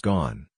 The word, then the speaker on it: Ghosn: buy personal homes abroad gone pronounced gone who was already in